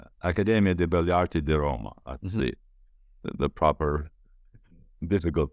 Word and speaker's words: Accademia di Belle Arti di Roma: very prestigious Academy of Fine Arts in Rome, Accademia di Belle Arti di Roma. Accademia di Belle Arti di Roma. That's the proper, difficult pronunciation.